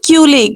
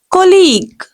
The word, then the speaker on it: colleague: No, this is not culic. No, wrong pronunciation. Actual pronunciation will be colleague.